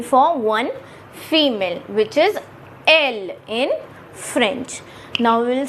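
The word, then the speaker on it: elle: EL, and again we will put an L, and it becomes, the pronunciation is L in French, which the meaning is it.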